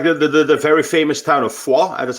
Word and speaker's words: Foix: No, it's like the very famous town of Foix, and that's how you pronounce it, Foix.